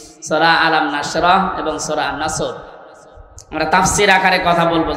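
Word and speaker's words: نصر: মানে ইগল পাখি এজন্য তেলাওয়াত যখন করবেন উচ্চারণটা মুখ গোল করা লাগে আল্লাহ পাক জানিয়েছেন যখন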